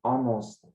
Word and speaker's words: honest: We don't need to pronounce the H. Hour. Hour. And the second example is honor. Honor. And then honest.